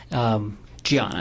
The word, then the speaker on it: Diana: Bunting was married to a woman named Diana, correct? Gianna. It's spelled with a D, but she's Brazilian. Okay. So he was married to a woman pronounced Gianna, correct?